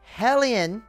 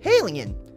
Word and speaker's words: HALIENE: I saw this comment yesterday, and it says, and I quote, "Halienne, remove A, alien, remove A, not spelled with H, Halienne."